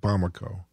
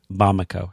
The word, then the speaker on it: Bamako: the town that the patient is from is pronounced bamako bamako how did i how did i die you